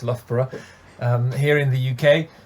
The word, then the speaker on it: Loughborough: that's the other thing people aren't sure how to pronounce lothbra um here in the